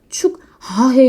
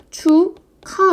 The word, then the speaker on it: 축하: 축하해 이렇게 하잖아요 축하해 축하의 발음 어떻게 하세요 축 아해 이러진 않잖아요 추가 이렇게 우리는 합니다 기억과 히읗이 키읔으로 두 개가 하나로 줄었어 합쳐졌어요 이런 걸 축약이라고